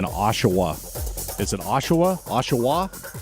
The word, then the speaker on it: Oshawa: I just like saying Oshawa. Is it Oshawa? Oshawa? Oshawa.